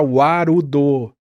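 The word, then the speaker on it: ワールド: da forma japonesa então Arudo é World mas como né o w cada coisa ali vira warudo é muito e o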